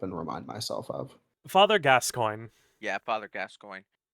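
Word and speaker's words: Gascoigne: yeah father gas coin is it spelled g coin it is spelled g- s c o i g NE e let R GN off yeah they're FR yeah he's French for some Irish oh that's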